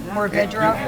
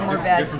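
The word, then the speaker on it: Mourvèdre: They're both correct. Mourvedre or Mourvedre. I'm just lazy, and I go with the one less syllable.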